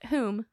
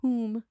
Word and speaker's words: Hulme: Juliet Hulme, which is spelled weird, but it is pronounced Hulme or Hulme. Hulme.